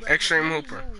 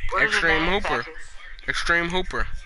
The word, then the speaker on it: Extr3m3 Hoop3r: Extreme Hooper. What is it? Extreme Hooper. But instead of the first E is actually E and the rest are threes. That's how you spell it.